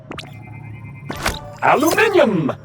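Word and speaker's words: aluminium: aluminum or aluminum as Americans pronounce it incorrectly, but that doesn't make it any less useful.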